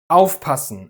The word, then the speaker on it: aufpassen: Aufpassen, einkaufen, vorstellen. Exactly, the stress is always on the prefix.